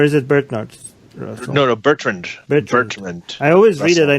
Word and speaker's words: Bertrand: No, Bertrand. I always read it. I never pronounced it.